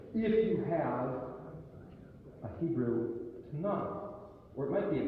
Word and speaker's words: Tanakh: If you have a Hebrew Tanakh, or it might be a Chumash, but the Chumash means 5. It's the first 5 books, which is the Torah. The Tanakh, the phonetics T-N-K, Torah, Nevi'im, Keterim.